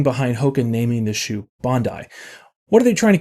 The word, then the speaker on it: Bondi: You might hear people say Bondi, but it's actually Bondi. The moment you pronounce it right, you're already closer to the understanding of the shoe.